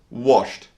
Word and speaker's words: washed: in my little story was washed and guess what this is actually pronounced with a soft T sound washed a T sound washed talked Walt loved